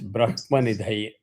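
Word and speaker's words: ब्रह्मनिधये: The actual word is Brahmanidhaye. So, if you want to practice learning the correct pronunciation, you can do that. Namo Vai Brahmanidhaye Vasishtaya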